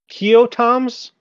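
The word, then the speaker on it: Keoghtom's: Okay, it's spelled Keoghtoms, Keotoms Ointment.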